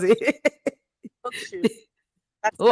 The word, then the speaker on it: Hochschule: So they have schools, universities, University of Applied Sciences, universities of arts and music, dual Hanchulin. I don't know. Is that how you pronounce it? Hochschule.